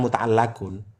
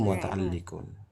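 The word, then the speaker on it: متعلق: Iya bacanya yang lafaznya itu mutaalun karena dia berhubungan bukan mutaallaquun bacanya itu mutaalliun.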